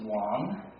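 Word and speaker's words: 王: It's pronounced, this first one is Wang, and it's a common surname in Chinese, and it happens to mean king.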